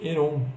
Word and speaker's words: Heron: lados para usar a fórmula de Heron, ou fórmula de Herão, depende de como você está acostumado a pronunciar.